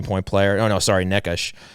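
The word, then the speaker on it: Nečas: player oh no sorry nekish is that the right pronunciation yeah nikash so he had 71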